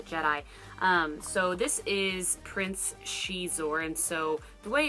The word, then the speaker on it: Xizor: power of the Jedi so this is Prince she's or and so the way it's spelled makes you wonder how to pronounce it